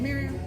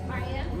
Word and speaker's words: Mariam: Is it Miriam? Mariam. Mariam. Okay.